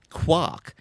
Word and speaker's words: quark: For instance, the coiner of quark in the physics sense has intended it to rhyme with cork. Well, there you go. So it's supposed to be It's spelt quark. yeah, but What? general usage has resulted in rhyming it with mark.